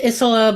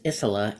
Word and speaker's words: Isola: It's Isola, but if you have a last name that kind of, when it starts with a vowel, that's where people get tripped up. Starts with a vowel, ends with a vowel, has a vowel in the middle. So it's how I pronounce it is Isola, and don't fret over